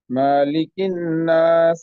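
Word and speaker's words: ملك الناس: আউজুবি রাব্বি নাস মালিকিন্নাস না মাতে কোন টান হবে না মালিকিন্নাস আমার সাথে একটু বলেন প্লিজ মাতে টান হবে না মালিকিন্নাস মালিকি নাস ইয়েস সূরা ফাতিহার যে সূরা ফাতিহার যে মালিক ইয়াওমিদ্দিন ওই মাতে টান হবে কিন্তু সূরা নাসের যে মালিক এইটাতে টান নাই হ্যাঁ মালিকিন্নাস মালিকিন্নাস তারপরে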